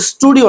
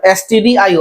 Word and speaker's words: stdio: করা থাকবে, তারপরে stdio, এটা কিন্তু স্টুডিও না, stdio। আমরা স্যার মানে খুব মানে দ্রুত উচ্চারণে করার ক্ষেত্রে আমরা স্টুডিও বলে থাকি, কিন্তু আসলে stdio, তারপর কোনিয়ন, তারপর মেয়াদ, তারপর স্ট্রিং ডট এ।